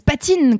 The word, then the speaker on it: Patine: dis mais c'est super on le comprend ça s'écrit c'est on le lit comme comme ça s'écrit c'est important pour une marque digitale au pire on dit pas time si on américain ça va c'est voilà